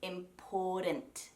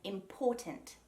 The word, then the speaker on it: important: Americans, or North Americans I should say, will usually say important with that soft DT sound rather than important. So they also pronounce their R's, of course. Australians don't. So Australians often now, myself included, will say important instead of important.